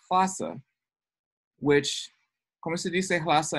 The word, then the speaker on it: Lhasa: transliteration and transpronunciation, because if you transliterate this, it's L-H-A, right? Yeah. It is pronounced H-L-A. Unfortunately, a bunch of English speakers didn't know that, and now everyone pronounces the capital of Tibet as Lhasa, when it is in fact Lhasa, which, ¿cómo se dice Lhasa en español?